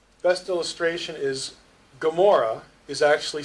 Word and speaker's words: Gomorrah: In Hebrew, you'd pronounce it like in the back of your throat. Best illustration is Gomorrah is actually spelled Gomorrah, not with the Hebrew G.